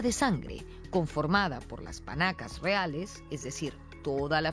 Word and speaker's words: panaca: Según me han dicho, no se dice 16 panacas, sino 16 panacas.